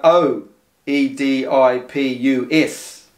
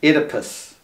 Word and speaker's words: Oedipus: so Oedipus is spelled o e d i p u s it's pronounced Oedipus not Oedipus Oedipus and the O is silent right well if you